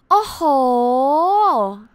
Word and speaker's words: โอ้โห: do you know that in thai we say oh ho oh make sure that the hole is long enough oh so yeah which means